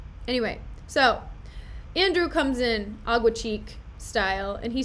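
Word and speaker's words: Aguecheek: Here he comes, Sir Andrew Aguaface." I'm so hyped. Oh, and his name is Agua Cheek, by the way. He just said the name wrong, blatantly, I don't know why.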